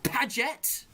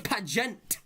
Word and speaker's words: Paget: didn't once suggest oh he's mispronouncing my name let's just bring that up it's paget otherwise pagent look livy is just